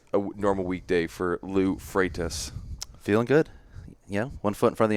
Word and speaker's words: Freitas: says his name, and I just realized I'm mispronouncing your last name. How do you say your last name? I'm still Freitas.